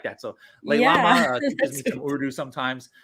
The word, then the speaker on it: Lailama: Last but not least here, the proper pronunciation of your name. So go ahead and say it just to make sure. It's Leilama.